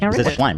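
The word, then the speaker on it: Shlaim: Schlime, right? Yeah. Yeah. Schlime.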